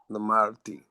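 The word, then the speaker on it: למדתי: If you can't get it, I mean, throw a little E in there if you have to, but it's pronounced really Lamadti. Lamadti.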